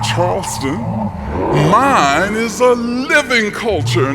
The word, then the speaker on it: Charleston: Gullah Geechee culture exists all around you as you walk about, dine, and sightsee throughout Charleston. Now, that's how Gullah Geechee speakers pronounce the word Charleston, not Charleston.